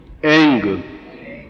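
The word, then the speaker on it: ऐं: एम नहीं बोल सकते, एंग।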